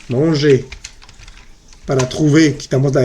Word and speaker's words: manger: Manger, manger, ¿listo? La R no se pronuncia al final. No van a decir manger, o trouver, o parler. Es manger, trouver, parler, exprimer.